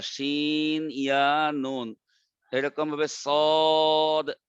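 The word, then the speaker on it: ص: শিন তিনটা হরফ দিয়ে লেখা, শিন ইয়া নুন, এরকম ভাবে সদ তিনটা হরফ দিয়ে লেখা, চার আলিফ টানবেন, সদ আলিফ দাল।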